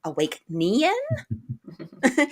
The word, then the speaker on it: Awæcnian: under our names there don't forget the a e and that lovely silent n there that awake nean is the the whole